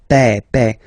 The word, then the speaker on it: père: Remember, accent grave like that. It's this open père.